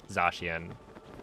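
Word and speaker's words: Zacian: Oh, I think it's Zashian, right? I don't think I've ever heard somebody pronounce it Zakian. sensation. Well, it's certainly not Zach like Zachary.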